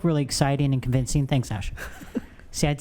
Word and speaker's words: Asha: like Tasha or Sasha without the first letter on it.